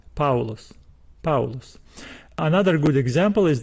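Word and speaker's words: Παῦλος: letter in the diphthong so we do not pronounce this word as paulos paulos no we still say paulus paulus another good example is the word oinus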